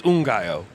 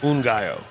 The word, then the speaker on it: Ngaio: It's Ngaio. I know. Like one rooster. Yeah, I always mispronounce it. I apologize. Ngaio.